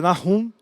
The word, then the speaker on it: Nahum: Em hebraico a gente pronuncia Nahum, e significa consolo.